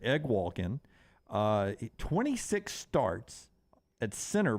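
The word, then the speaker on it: Eguakun: offensive side their Center Kingsley egg Walken I looked it up that's how you say that I would have never guessed that's how you pronounced that egg Walkin uh 26 starts at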